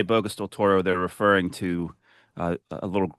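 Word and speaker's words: Bocas del Toro: So the the the local people on the island uh because because Boo Can you pronounce that for me again? I know you say it bokeas del Toro.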